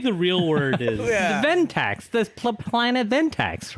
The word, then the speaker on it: Ventax: the Ventax, the planet Ventax, right? It's spelled VAN.